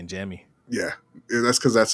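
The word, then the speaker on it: Jammie: Jamie and forever just get rid of one of the M's. Your name says Jamie. I know you pronounce it Jamie, but it's ridiculous. I'll say Jamie.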